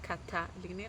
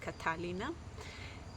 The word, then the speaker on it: Catalina: It's Catalina, like a like a strong T, Catalina.